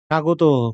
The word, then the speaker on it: স্বাগত: স্বাগত, ১ম এ ব ফলা থাকলে তার কোনো উচ্চারণই হয় না।